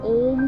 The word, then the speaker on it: ओम: ओंकार को तीन भागों में बांटा जा सकता है। अ, उ म इन तीनों ध्वनियों का सम्मिलन ओम शब्द बनता है।